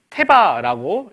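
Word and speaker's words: תבה: 말이 나왔죠 걱정하지 말아요 자이 말은 무슨 말이냐면 태바라고 읽는다고 합니다 테마 히브리어는 여기서부터 이렇게 읽는 거래요 테마라고 하는데이 상자를 태바라고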